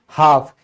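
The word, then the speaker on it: half: फिर है आधा, यानी कि हाफ। इसमें क्या है? एल से पहले ए आ गया तो ये भी क्या हो गया? साइलेंट हो गया।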